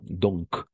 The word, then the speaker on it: donc: une petite chose ici on va prononcer le C à la fin à la fin donc n'est-ce pas oui c'est